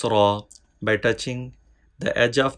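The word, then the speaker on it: ر: From here we can pronounce ra. Ra. Ra. Ra. Ra. Ra. Remember, Ra has no dot on it. Ra, Ra. Please read with full sound, thick sound.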